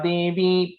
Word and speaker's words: देवी: So Devi is a long E here. Maheshwari Vrisharudha Kaumari Shikivahana Lakshmi Padmasana Devi Padmahasta Haripriya.